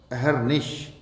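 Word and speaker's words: अहर्निश: अब अगली अहरनिश, अहरनिश जी नहीं, रे पूरा नहीं होगा, रे होगा आधा, जो ऊपर चढ़ा होगा रेफ बन के, और शे शरबत का होगा, अहरनिश, अहरनिश।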